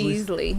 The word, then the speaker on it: Easley: And if you're in Easley, South Carolina, did I say it right? Easy. Easily.